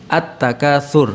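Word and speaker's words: التَّكَاثُر: Nun itu kan huruf asamsyah, yaitu al bertemu dengan nun, ya, an-nas, maka hukum bacanya adalah asamsyah. Terus yang contoh yang kedua adalah alhaqumut takatsur, at-takatsur.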